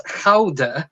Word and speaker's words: Gouda: This particular cheese originates from the Netherlands, and it is pronounced as Gouda, but it wouldn't be the same to say As Gouda as Dead. It doesn't have the same ring to it as Gouda as Dead.